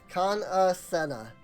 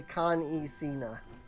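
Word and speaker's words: Kan-E-Senna: It's Kana Senna, and I always say Kan Sena.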